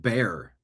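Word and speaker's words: Bexar: Uh Patriot Warrior chiming in on the Rumble chat saying Beexar is pronounced bear.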